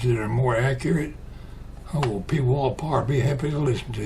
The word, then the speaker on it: Pwalpar: And some people can't pronounce Pwalpar, but that's how you say it.